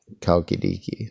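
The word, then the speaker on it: Chalkidiki: the other one is spelled with a CH but it's pronounced kalkidiki so that's the difference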